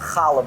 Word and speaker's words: challah: So our in-house, it's pronounced challah bread. You can say it with me, right? You get challah bread from the back of the throat.